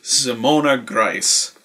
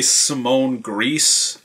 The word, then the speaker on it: Simona Grace: name mispronounced it is Simona Grace that is how you pronounce German names I've heard people say Simone gree and I think even